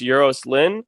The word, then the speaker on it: Euros Lyn: And then the director, I think his name is pronounced Euros Lynn.